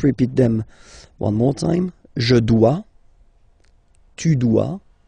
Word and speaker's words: dois: Okay, remember final S is not pronounced. Je dois. OE, when you combine the two, you get the sound wa wa wa. Je dois.